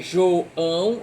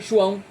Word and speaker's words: João: Algumas palavras podem ser lidas com hiato ou sem hiato. Por exemplo, a palavra toalha. Eu posso ler toalha, 3 sílabas, ou posso ler toalha, toalha. João, eu posso ler João ou posso ler João, tudo junto.